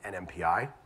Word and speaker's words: NMPI: We have Carly French from Dish, and we have Andrew Turner from NMPI. Said it right? Not NIMPY, by the way.